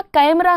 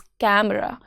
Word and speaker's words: कैमरा: कैमरा कैमरा नहीं होता है। इट्स कैमरा ए का जेंटल साउंड।